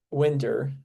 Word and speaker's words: Winder: Ray Winder is Winder. I know I said it wrong last time.